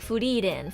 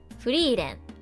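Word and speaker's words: Frieren: I know, Furiren, Ferun. That's why I say their names in the Japanese pronunciation, so it's like less confusing. Furiren, Ferun, Shitaruku.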